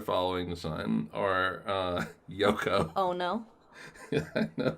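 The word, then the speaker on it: Yohkoh: the sun are uh yoko oh no no right not spelled like that it's y-o-h-k it's spelled like phonetically yoko uh originally it was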